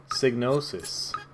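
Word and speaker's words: Psygnosis: Snosis, the P is silent.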